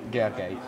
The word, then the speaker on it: Gergely: So you pronounce it like Gergely. Gergely. Oh, it's not actually that bad. Yeah. Everybody wants to pronounce the L and Y separately. Okay. Yeah. It's just one sign.